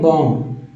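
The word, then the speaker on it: bomb: silent हो जाएगा यहां भी जो है बी साइलेंट है बम क्या पढ़ना है बम ब बम अब टम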